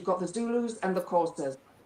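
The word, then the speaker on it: Xhosa: You've got the Zulus and the Courses. Courses spelled with an X and it's a sound in the in the throat.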